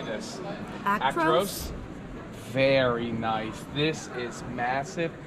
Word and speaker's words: Actros: Actros.